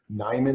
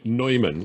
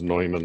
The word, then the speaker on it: Neumann: one more time please neyman lines or newman lions no neumann it's a word i think the proper pronunciation is neumann lines uh by newman yeah